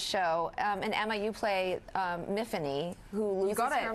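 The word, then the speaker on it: Myfanwy: And Emma, you play Miffany, who loses you got her memory. Yeah. Rhymes with Tiffany.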